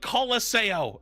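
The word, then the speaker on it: Colosseo: about to find out it's circuit royale and call laseo and and that's it you've heard it here first that is the correct pronunciation we will not be taking questions at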